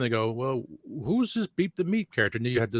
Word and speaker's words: Beep the Meep: It is Beep the Meep, yes.